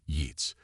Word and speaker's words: IUTS: The Academy had been forced to create an entirely new department, the Institute for Unconventional Tactical Solutions, or IUTS, though human cadets insisted on pronouncing it YEETS, its mission statement, written